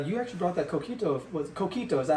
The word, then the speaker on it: coquito: Yes, but you say it like a gringo, though. You know what I'm saying? It's coquito. Coquito. Coquito. Yeah, put an extra emphasis on the key, right?